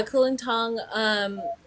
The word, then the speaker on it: Kulintang: Is that the pronunciation? Yeah, Kulintang.